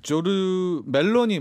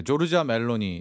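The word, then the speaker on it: Giorgia Meloni: 이 조르 멜로니 뭐 약간 발음이 그러니까 조르자 멜로니 네.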